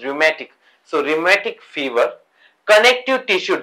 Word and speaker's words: rheumatic: Show cause काय, rheumatic fever, its pronunciation is rheumatic.